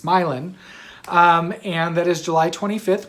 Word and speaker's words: Milan: yarn shop in um milan michigan and i had to think about it because it's not milan it's spelled like milan but it is not milan it's myelin and that is july